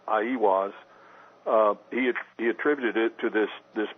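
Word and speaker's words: Aiwass: Well, I think the Book of the Law, which Crowley supposedly wrote through automatic writing, Crowley attributed to, I believe the way it's pronounced is Aiwas.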